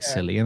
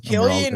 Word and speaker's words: Cillian: I get it because it's a C, so it seems like Cillian, obviously, but like I don't know why. Maybe it's just coming from Ireland. Maybe it is actually supposed to be pronounced Cillian.